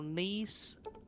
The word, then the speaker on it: Nisa: No, Nisa. A three-syllable name.